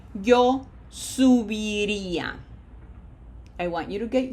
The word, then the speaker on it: subiría: This is not sub, okay? We don't want to speak Spanish in English. Be reminded of the syllables. Subiría.